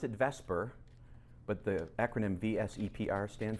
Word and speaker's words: VSEPR: and we pronounce it Vesper but the acronym VSEPR stand for correct valence shell electron pair repulsion so it's VSEPR but it's pronounced Vesper because we do better with the vowel in that place alright so we're going